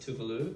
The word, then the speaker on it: Tove Lo: baby of toflo and it's actually pronounced tuvalu but most people know how is Tove Lo I'm the baby that's